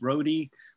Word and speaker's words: Rhode: And then I'm very active on my Instagram, which is at Rhody, R-H-O-D-E, spelled like Rhode Island, but it's Rhody.